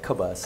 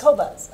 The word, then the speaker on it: Qobuz: Qobuz? Thanks for asking. Yeah, Qobuz. Qobuz, okay. That's how I pronounce it. Okay. It's Qobuz.